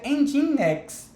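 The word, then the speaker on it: nginx: são o end x se escreve NG NG e Nx mas para você em next tá em dindin de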